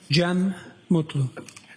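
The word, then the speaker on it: Cem Mutlu: It's officially spelled C E M uh last name M U T L U. I also spell it with a G. GM.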